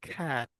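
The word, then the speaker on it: cat: যেমন এই যে ক্যাট যে বলি, এটার ফনিক্স দেখবেন আপনারা যে এরকম আছে, ক্যাট, বাট উচ্চারণের ক্ষেত্রে কি হয় বলেন, আমরা ক্যাট বলি, বাট এটাকে আমাদের কি বলতে হবে, খ্যাট, খ্যাট।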